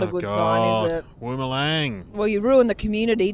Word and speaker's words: Woomelang: No, it's Woomelang. And I was like, and it's like, no, it's got double O, mate.